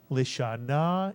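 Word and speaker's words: לשנה: Remember, the shva under the lamed is pronounced because it's under the first letter of a word. And therefore the first syllable would be Lisha, Mitsuyan. And the second syllable? Na, Mitsuyan. Put the word together. Lishana is correct.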